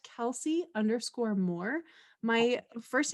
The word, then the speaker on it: Kellsie: the car constantly completely understand uh so it's kelsey underscore more my first name is spelled funny it's k-e-l-l-s-i-e so kelsey underscore more